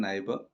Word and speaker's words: neighbor: Word neighbor, parts of speech noun, pronunciation neighbor, R sound palkadu, neighbor, a person who lives next to you or near to you.